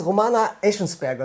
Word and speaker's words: Romana Echensperger: Next to me is Romana Echensperger. Is pronounced correctly? It's perfect, yeah.